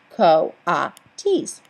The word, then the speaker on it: coatis: raccoony dogs these are coatis mrs. Brisbane said reading from the letter pronounced co-op teased the coatis looked weird